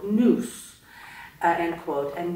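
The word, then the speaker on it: nous: be accessed only by an enigmatic faculty called news end quote and news is spelled n-o-u-s for the listeners uh before we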